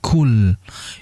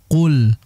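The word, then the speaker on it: قل: untuk pengucapan huruf qf Jangan sampai kita Ubah menjadi Kaf sehingga menjadi kul yang betul adalah Qul Qul Qul Ya sangat berbeda antara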